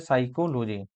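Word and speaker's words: psychology: देखिए उसका होता है साइकोलॉजी। साइको क्या होता है? साइकोलॉजी होता है। ठीक है? साइकोसाइकोलॉजी होता है। लेकिन स्पेलिंग स्टार्ट होता है पी से।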